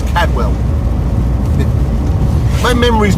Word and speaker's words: Cadwell: In yesterday's video, I had a couple couple of people on about Cadwell Park that I pronounced it wrong. It's not Coldwell, it's Cadwell.